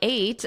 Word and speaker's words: ate: This eight, yesterday I ate, that is the same as the number 8.